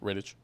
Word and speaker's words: Rittich: But Rittich. Yeah, so no, it's Riddick. Is it a K? Is it not a CH? It's Riddick. No, it's a CH. But it's pronounced Riddick?